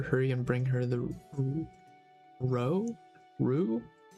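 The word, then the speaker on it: roux: I didn't know how to pronounce ru. Um, ru Ro. Yeah, Rue. R O U X.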